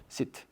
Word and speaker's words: sit: 발음 잘해야 되는데 sit. 이렇게 하면 되나요? 길게 하면 안 되죠.